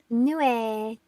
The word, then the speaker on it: Nue: It's pronounced Nue. It's a Japanese monster. Nue.